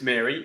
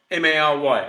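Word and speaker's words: Mhairi: And just to spell it, because I think it's pronounced Mary, but it's not M-A-R-Y, okay?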